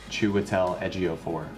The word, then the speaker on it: Chiwetel Ejiofor: and a bunch of other places how to pronounce his name properly because I wanted to get it right. Chiwetel Ejiofor.